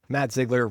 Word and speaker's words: Ziggler: class who told me Matt Ziggler rhymes with jello jiggler.